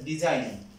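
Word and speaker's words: design: এরপরে আমি যে উচ্চারণ নিচ্ছি এখানে পেলাম সেটা হচ্ছে ডিজাইন, ডিজাইন বানান, খুব ইম্পর্টেন্ট একটা বানান, ডিই এস আই জি এন, ডিজাইন।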